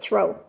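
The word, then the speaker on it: Thoreau: throw I I think it's say pronounce it throw it looks like thoro it's uh written out Theo but they pronounce it throw I don't know but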